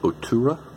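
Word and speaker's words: Oturu: out of this one daniel otura it is how you pronounce his name daniel arturo but he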